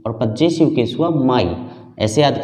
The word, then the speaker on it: पजेसिव: और इसका भी कुछ लोग गलत बोलते हैं, पोसेसिव वगैरह बोलते हैं, ये होता है पजेसिव। तो आई का ऑब्जेक्टिव केस हुआ मी और पजेसिव केस हुआ माई।